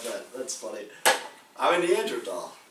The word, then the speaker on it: Neanderthal: I'm a Neanderthal. Is it Neanderthal or Neanderthal? I think it's tall. Like tall. Neanderthal. That's the right way to say it, but.